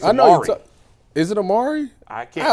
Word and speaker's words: Amari: it Amari Darren is doing it is Amari Amari D Marcado yeah I it was was interesting